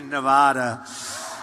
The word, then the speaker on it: Nevada: out here I said nobody says it the other way it has to be Nevada right and if you don't